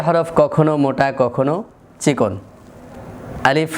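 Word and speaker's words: ألف: হরফে আলিফটা উচ্চারণ হবে কিভাবে? আলিফ। আলিফ অর্থাৎ এ হরফটি তিনটি হরফের সমষ্টিগতভাবে এ হরফটির বানান। একটি হচ্ছে হামজা আরেকটি হচ্ছে লাম আরেকটি হচ্ছে ফা। হামজার হরকত যদি জবর জের পেশ হয় তাহলে উচ্চারণ জবর হলে কেমন হবে? আ এরপরে লামের মধ্যে আছে জের ফার মধ্যে জজম একসাথে উচ্চারণ করলে আলিফ তাহলে আলিফ হরফটা উচ্চারণের সময়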